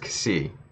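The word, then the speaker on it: Xi: like yes it spelled X i but it's pronounced kisi but if it's C I don't know you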